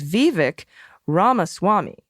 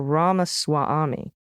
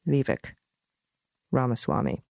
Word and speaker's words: Vivek Ramaswamy: Vivek Ramaswamy, which is Vivek Ramaswamy. All right, great. Or Ramaswamy. So maybe there's 2, like a Ami. I've exaggerated the stresses, but they really should just be the slightest stretches. Vivek Ramaswamy.